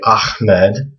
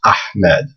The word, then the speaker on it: Ahmed: not a ha so when you hear people say ahmed they're actually pronouncing it wrong it's actually this letter that they're that they want to try to pronounce it's ahmed so this again is ha